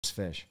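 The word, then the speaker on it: Phish: Fish with the PH? Yeah, it's just fish.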